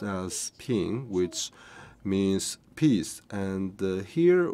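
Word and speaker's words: 瓶: and peace because the vase in Chinese it's pronounced as ping which means peace and here we have a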